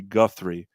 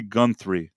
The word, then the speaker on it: Guthrie: an old folk music singer called Woody Guthrie and when I talked about him I I said Woody gunthry and I had several